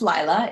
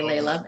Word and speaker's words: Laila: thanks for having me my name is pronounced Lila it's very common for people to say Laila and it's not really